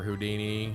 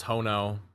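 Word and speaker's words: Ho-Oh: No, no, no, no. It's Hono, brother. Why would we mispronounce that?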